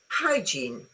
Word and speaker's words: hygiene: This word has two syllables and the stress is on the first syllable. Yeah. Why not? hygiene.